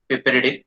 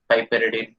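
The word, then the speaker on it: piperidine: उसका फायदा ये है, जो मैं नेक्स्ट केमिकल यूज करने वाला हूँ, पिपेरिडिन। ठीक है, पाइपेरिडिन, जो भी आपको प्रोनाउंसिएशन है, पिपेरिडिन।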